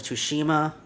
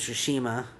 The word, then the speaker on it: Tsushima: Sony is making a Ghost of Tsushima. I think the T is not pronounced T. Ghost of Tsushima.